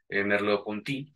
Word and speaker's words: Merleau-Ponty: Y otros más recientes es de un filósofo francés, se pronuncia Jacques Merleau-Ponty.